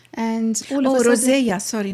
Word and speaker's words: rosacea: I once had something, I actually practiced pronouncing them, but if you could please help me. This. Rosacea? Rosacea.